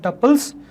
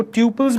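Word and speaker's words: tuples: तो नेक्स्ट देखते हैं अपन अबाउट टपल्स, जिसको ट्यूपल्स भी कहते हैं लोग। तो जो आपको सही लगे वो प्रोनाउंसिएशन आप अपना लीजिए, टपल्स या ट्यूपल्स, what ever pronunciation you want. सो मैं तो टपल्स बोलता हूँ।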